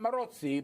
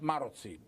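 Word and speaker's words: Maróczy: Not Marozzi, but Marozzi. Okay. Hungarian names are always stressed on the first syllable.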